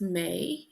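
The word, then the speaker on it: mé: a breakdown me and Irish is May and his a father such a long vowel so it's pronounce like an A Y May May Misha is me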